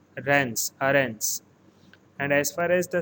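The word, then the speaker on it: Reims: city and it is pronounced as aarons rans here m is pronounced as n so it is rans and as far as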